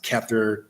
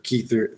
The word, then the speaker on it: Kether: Some pronounce it Kether, Kether. There's different pronunciations of it, which is the highest state or the vital life force state.